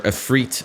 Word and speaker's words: Ifrit: second icon of fire Ifrit or afreet as they pronounce it I have always said eye for it but uh anyways yeah